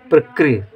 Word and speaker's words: प्रकृति: गया प्रक ऋ की मात्रा की विशेषता यह होती है कि र के साथ हल्का सा ई का उच्चारण होना चाहिए प्रकृत ठीक है प्रकृति ति